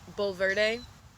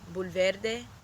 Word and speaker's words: Bulverde: in a place called Bulverde. And although I guess it would actually be pronounced Bulverde, but America, we know how it is.